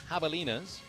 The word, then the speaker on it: javelina: from Hector Lakes halftime javelinas I am very big on the alliteration even though javelina starts with a J will pronounce it with the with the ha sound so I think that